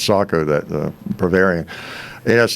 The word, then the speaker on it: Sako: i kept the the the sako you know that's how you pronounce it but i was everybody calls it seiko but yeah i think it's sako that the bavarian it